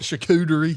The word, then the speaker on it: charcuterie: Charcuterie.